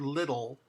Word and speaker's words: little: Listen to the word little. Little in English, you can feel in your mouth with your tongue and even hear there's two L pronunciations. That's because the final L is called a syllabic L, and it actually means a syllable.